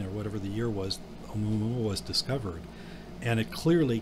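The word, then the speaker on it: ʻOumuamua: And then could there you is, pronounce that again? No, I can't. Oumuamua. Oumuamua?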